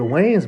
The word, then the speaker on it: Wayans: Hold on, let's slow that down phonetically. The Wayans brothers, as in Dwayne's brothers, as in Dwayne Martin, Martin Lawrence, Gina, the Wayans brothers, Dwayne Martin, who she was married to.